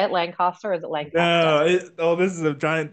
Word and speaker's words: Lancaster: So is that how you say it, Lancaster, or is it Lancaster? No, this is a giant debate around here. Yeah. It's Lancaster, like very short.